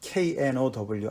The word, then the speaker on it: know: 높이 스 예 에 그게 이제 영어 발음은 똑같아요 노 라는 게 know 안다 라는 단어 랑 no no 그거랑 똑같잖아 얘기죠 발음의 그래서 두개를 같이